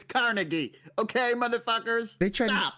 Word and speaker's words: Carnegie: It's Carnegie. Okay, motherfuckers. They tried. Stop. They tried having a different inflection on one of the syllables.